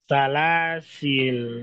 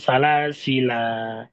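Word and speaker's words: سلاسل: Jadi bacanya salasil. Jadi bacanya salasil, bukan salasila.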